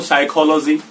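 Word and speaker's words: psychology: तो इस कंडीशन में भी पी साइलेंट हो जाता है। जैसे अगर मैं बात करूं साइकोलॉजी, ये मानव शास्त्र एक सब्जेक्ट भी पढ़ाया जाता है, वो वाला हो गया वर्ड।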